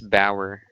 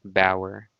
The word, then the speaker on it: Bauer: name it's pronounced as bauer okay so it has a weird spelling but it has a w sound bauer okay so you might